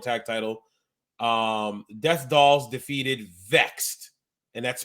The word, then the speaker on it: VXT: Death Dolls defeated Vexed, and that's spelled VXT, which is the Death Dolls are Jessica, formerly Jessica Havoc, and Taya Valkyrie.